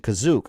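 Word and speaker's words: Kashyyyk: let's see when was kashyyk coined that's already one you coin let's see kashik was first seen in the holiday special uh in the holiday special first mention carries the pronunciation kazuk that's not that's not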